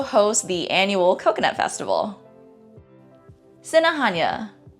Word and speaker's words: Sinajana: Sinahanya. Sinahanya. Just a quick note, in the Chamorro alphabet, the English equivalent J is pronounced as Ha. So hence why I wouldn't say Sinajana, it's Sinahanya.